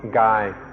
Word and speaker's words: กาย: The original word the Buddha used was Gaya, and this word also occurs in Thai and is pronounced Gai.